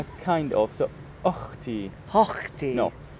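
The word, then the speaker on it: أختي: So you see in Arabic we have ha, Ha. Yeah. throat letter, but also we have kha. Like hotel. No, kha. Ha. So it's like German and Russian people, they're actually good at it.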